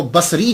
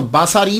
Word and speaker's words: بصری: وہ کہا جاتا ہے۔ لیکن ایک بات یاد رکھیے گا کہ جب آپ اس کو تلفظ کریں گے تو باساری نہیں کریں گے، سواد کے اوپر زبر نہیں پڑیں گے۔ اگر آپ نے سواد کے اوپر زبر پڑا، باساری بن گیا، تو اس کا معنی